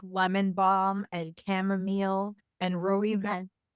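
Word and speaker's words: rooibos: Herbal teas, you know, like lemon balm and chamomile and ru. I don't know if I'm saying that right. Rui ruibos. I think is how they pronounce it.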